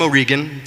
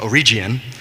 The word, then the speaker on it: O'Regan: So I'm O'Regan, or as I like to go by in Armenia, O'Regian.